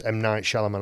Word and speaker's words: M. Night Shyamalan: And so, for example, in The Sixth Sense, M. Night Shyamalan, I think it's pronounced like that.